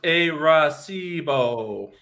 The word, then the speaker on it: Arecibo: Jink says it's pronounced Arecibo.